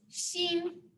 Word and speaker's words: 新: So the first word we're going to learn is xin. Xin. Xin means new. And if you look on the screen, that's the English pronunciation there.